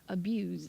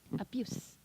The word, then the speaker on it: abuse: 그래서 abuse 이렇게 z 발음을 하시면 다 동사예요. use, misuse 이렇게 그 z 발음을 하시면 동사고요. s 발음을 하시면 성대를 안 울리고 이렇게 하시면 abuse, misuse, use 이렇게 하시면 명사예요.